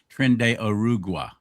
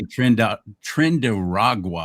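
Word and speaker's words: Tren de Aragua: and by the way correctly pronouncing trend arugua. Yes, you said it correctly. I hear everybody in the media pronouncing it wrong. They say trend trend raw is what they've been saying. That's not it.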